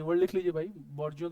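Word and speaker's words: bourgeois: Proliferate, mushroom, augment, बॉर्जिया, है ना। अभी इसको बर्जिया पढ़ते हैं, फ्रेंच वर्ड है तो ऐसा ही उसका मीनिंग, मतलब प्रोनाउंसिएशन ऐसा ही है।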